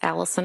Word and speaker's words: Allison: Tell us your name, please, and spell it. It's Allison.